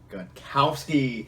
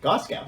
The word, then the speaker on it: Gostkowski: was no other Dan gostkowski the Patriots kicker yeah whopping 14 points though and also and some people pronounce it Gostkowski gauss cows yes some people so depends